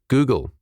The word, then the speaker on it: googul: Pronounce it Google, mathematical infinity, a number that is equal to 1 followed by 100 zeros."